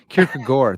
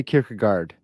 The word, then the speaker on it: Kierkegaard: i have some hardcore kicker guard fans uh kierkega gore they'll even say i know yeah kirika gore there's something pronounced like that um i didn't want to